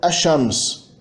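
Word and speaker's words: الشمس: É um prefixo na palavra que se funde na pronúncia, não na ortografia, na pronúncia com uma consoante alveolar seguinte, quando é prefixado a um substantivo que começa por alveolar. Shams é sol, o sol é Ashams, Tarikh é história, a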